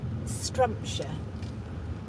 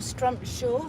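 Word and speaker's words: Strumpshaw: So the next one to here is at Strumpshire, or Strumpshire, however you wish to pronounce it. Locally it is called a Strumpshire.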